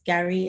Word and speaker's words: Garri: Water and Garri.